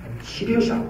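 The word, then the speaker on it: 西陵峡: 우당협 그 다음에 무협은 우샤라고 하고 시링샤 서령협 그 서령협은 중국 발음으로 시링샤라고 하는데 이 세 개의 협곡을 막은 것이 삼엽댐입니다.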